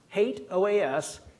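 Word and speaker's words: HATEOAS: the past I can tell you for sure hate oh is is the correct pronunciation I'm also going to bring in the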